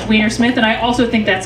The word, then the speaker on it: Weinersmith: So first off, it is pronounced Weinersmith, and I also think that's hilarious.